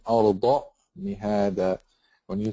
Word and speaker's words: الأرض: Like a lot of you just pronounce Alam Naj'alil Arza. This is actually a dad. So you say Alam Naj'alil Arda Mihada.